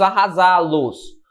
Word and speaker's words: arrasá-los: tenho consciência disso vamos arrasá-los Note que arrasar agora a sílaba tônica passa a ser aqui ó certo passa Então essa